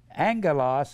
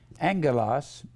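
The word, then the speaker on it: ἄγγελος: word Angel always remember it's merely the word Angelos a g g e l oos 2 G's together is pronounce NG NG Angelas and Angelos is the word common Greek word for messenger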